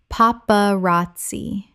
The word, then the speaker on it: paparazzi: youvra oeuvre Word 139 paparazzi Common mispronunciation paparazzi Correct pronunciation paparazzi Four syllables with the stress on the third. The z makes a ts sound in Italian.